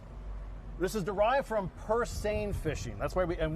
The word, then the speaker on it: seine: eccentric right so this is derived from per sane fishing that's why we and we we know it's like the river sen we pronounce its same same boat fishing uh well you actually had